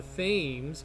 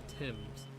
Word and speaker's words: Thames: and that's the thames which i want to call the fames because that's how it's spelled but uh natives were quick to call were quick to correct me and say that it is called the thames this this this plane